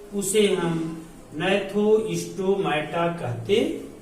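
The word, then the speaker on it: Gnathostomata: दूसरा आपका है नैथोस्टोमाटा, जहां जी साइलेंट है।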